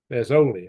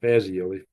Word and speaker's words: Fazoli: Fazoli, not Fazioli, Fazoli.